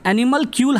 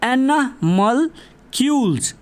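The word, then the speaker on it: animalcules: एनिमल क्यूल हम बोलते हैं मगर इसका करेक्ट प्रोनाउंसिएशन है एनिमल क्यूल्स, ठीक है, एनिमल क्यूल्स।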